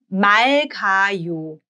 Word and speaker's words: 맑아요: So il-geo-yo and 맑아요. 맑아요. 맑아요. 맑아요. Notice how the r gets pronounced as l because it's bachim.